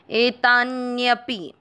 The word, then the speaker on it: एतान्यपि: पहला चरण एता, ता के साथ आधा न एतान, य अक्षर पूरा है उसमें अमिक्स करेंगे यपि, एतान्यपि।